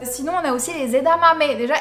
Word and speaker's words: edamame: on a aussi les edamame déjà est ce que vous savez prononcer ça hein c'est aidé à ma mais deux fois le m comme autres gars je